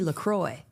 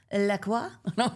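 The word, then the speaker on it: LaCroix: I can't remember how I used to say it, but I it was incorrect. And my uh a friend of mine had a what? A foreign exchange student from France. And I was like, "How do you say Lacroy?" That's how I said it. How do you say Lacroy? That's how I said it, too. And she goes, "What?" Laqua. And okay, I guess that's it.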